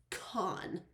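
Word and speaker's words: Kahn: Okay, his name is pronounced Khan. Khan. Wait, yeah, Khan. She has K-A-H-N. To me, that's Khan. There's no way that's Can.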